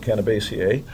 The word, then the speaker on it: Cannabaceae: comes from, the Cannabaceae, I don't know if you know how to pronounce that word, I always pronounce it Cannabaceae, lineage is estimated to be between 30 and 90 million years old on this planet.